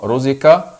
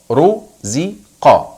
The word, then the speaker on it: رزق: نطق حرف حرف القاف في بعض الناس يقولوها خا رزق وبعض الناس بيقولوها ك رزك ولكن نطق الصحيح قا ق رزق ق رزق رزق الكلمه التاليه كلمه حشر